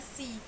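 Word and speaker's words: six: Terus 6 dibacanya kira-kira apa sih? Kan sama tuh penulisannya kayak bahasa Inggris. Ada yang tahu nggak? Dibacanya C. Tidak pakai x nya gak dibaca.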